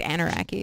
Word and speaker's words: Anarachy: I guess it's Anarachy is how it would be pronounced.